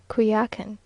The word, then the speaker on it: Coyohuacan: On Holy Thursday we went early in the morning to Coyohuacan, now pronounced Cuyacan, which is almost a